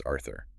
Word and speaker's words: Arthur: In the original metric structure, the name Arthur is exclusively rhymed with words ending in a long U sound. It rhymes with words like mer, meaning wall, or per, meaning pure.